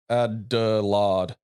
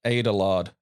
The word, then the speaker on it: Adelard: Very quickly, my name is pronounced Adelard, not Adelard.